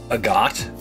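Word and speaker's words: Agate: Agat? That's a stupid way of pronouncing his name. Look at him. Even the correct pronunciation of his name irritates me. No! You made her cry! It's like the mineral.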